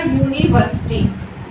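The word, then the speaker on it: university: अब देखिए यू कौन सा साउंड है हमारा, वोवेल्स का है, बट जो इसका प्रोनाउंसिएशन में आ रहा है वो क्या आ रहा है हमारा, ये जो क्या है व्यंजन है, ठीक।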